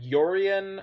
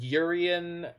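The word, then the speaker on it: Yorion: But yeah, I've heard Yorian. I've heard Yurian. I personally don't support any of those pronunciations. I think Urian is... It just seems the best to me by far.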